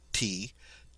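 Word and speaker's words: thé: Instead, we pronounce it like a T, as in the French word for tea, te.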